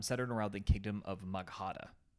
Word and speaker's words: Magadha: around the kingdom of magada okay um or or ar magadha okay I think is a better pronunciation ironically enough this Empire